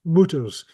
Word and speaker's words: multures: It's pronounced, I know it's spelled multures, apparently it's pronounced mooters in Scots.